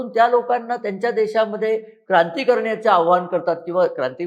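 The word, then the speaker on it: corps: Iranian Republican guard कोर त्या कोरच spelling CO आर पी एस असतं कॉर्प्स लोक त्याला म्हणतात पण त्याचा उच्चार कोर असा आहे म्हणजे सैन्याचा विभाग तर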